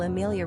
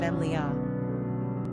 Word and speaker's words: Emilia: it's our understanding that the Italians pronounce Amelia with three syllables but English speakers often use a four-syllable rendition of Emilia Amelia does Jazz up